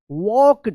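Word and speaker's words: walked: तो carried a small bag एंड वॉक्ड। यहां पे देखिए एल है तो यहां पे एल जो है ना साइलेंट रहेगा।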